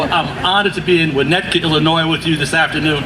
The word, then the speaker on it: Winnetka: I kept wanting to add an extra syllable. The guy who gave me a ride in said, try to do it with 1 syllable as much as you can, and you might get it right.